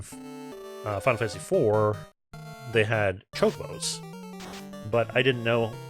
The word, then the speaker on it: Chocobo: But I didn't know how to say it properly, and I really got my, like, the CH mixed up with sh, so I called them chocobos all the time back in the day.